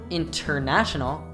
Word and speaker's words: international: Some other common examples where you can hear the emission of the NT sound are I went out, I went out. Internet, internet. International, international.